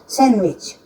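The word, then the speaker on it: sandwich: सैंडविच, हम लोग तो सैंडविच बोलते हैं, लेकिन इसका प्रोनाउंसिएशन होता है सैंडविच, डी इसमें साइलेंट रहता है।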